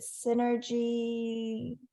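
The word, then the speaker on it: Senergy: it please help me is it Synergy it's at synergy.us but it's spelled s-e-n-e-r-g-y dot u s so it's energy with an S and and basically what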